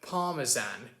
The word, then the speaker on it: parmesan: partisan or for example the word parmesan it's parmesan but americans don't pronounce it the same way that is absolutely right